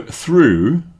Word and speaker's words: through: The next group are pronounced ough. So through, as in I walked through the park, or we went through a tunnel.